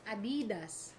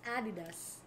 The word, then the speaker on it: adidas: you guys pronounce it some people pronounce it like adidas it's added us that's okay guys that's